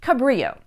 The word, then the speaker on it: Cabrillo: name of Joey Rodriguez Cabrillo but Richmond residents pronounced at the anglicized way Cabrillo and the weird pronunciation